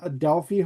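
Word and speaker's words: Adelphi: So, you guys were at the Adelfi Hotel. Did I pronounce that right?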